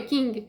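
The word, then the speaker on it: Q'eeng: A pronúncia do nome é King, que significa rei.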